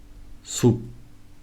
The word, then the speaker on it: 숲: Third group, when these two consonants are written in the bottom, they are pronounced as P. For example, 밥, 숲.